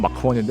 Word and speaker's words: Mach 1: 발음은 마크원인데 아마 한글 마원인가 그럴 겁니다.